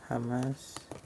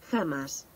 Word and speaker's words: jamás: Alright, let's check how this is pronounced. Jamás. Jamás.